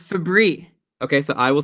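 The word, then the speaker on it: Fabbri: I am fairly confident that it's Fabry. Okay, so I will say Fabry, like the cleaning product, right? Febreze?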